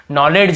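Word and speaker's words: knowledge: कि यहां पर देखिए डी को भी नहीं पढ़ रहे। नॉलेज ही नहीं पढ़ रहे। केवल नॉलेज ऐसे पढ़ रहे। नॉलेज लिखा हुआ है। नॉलेज ऐसे पढ़ते हैं।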